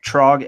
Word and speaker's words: Trog: I think I'm pronouncing this right. Trog MD.